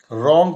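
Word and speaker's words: wrong: इसमें के नहीं पढ़ेंगे रंग पढ़ते हैं डब्लू नहीं पढ़ते हैं डाउट पढ़ते हैं बी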